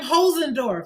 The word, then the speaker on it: Holzendorf: room and he's said yeah that's right hos andorf he's like I'mma train y'all to say my